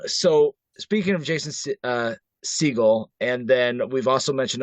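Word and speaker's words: Segel: Jason sigal uh yeah I always want to say s seal because of stupid Steven but yeah and then I I said it right I'm like wait did I say it right um So speaking of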